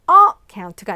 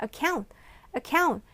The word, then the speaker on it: account: 그리고 account가 아니라 account, 이음절에 액센트가 있어요.